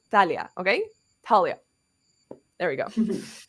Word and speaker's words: Thalia: what I do so I'm sorry to everyone who wants it to be Thalia sounds too close to my name so it's Thalia okay Talia there we